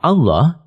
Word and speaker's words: Allah: di di di mengatakan nama Allah berasal dari kata alilah hamzahnya dihilangkan untuk mempermudah membacanya lalu huruf lam yang pertama diidhamkan pada lam yang kedua sehingga menjadi satu lam yang ditasdid lalu lam yang kedua dibaca tebal sehingga dibaca Allah demikian pendapat ahli bahasa